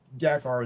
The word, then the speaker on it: Dakar: Dakar, and it's Dakar is how I usually say it.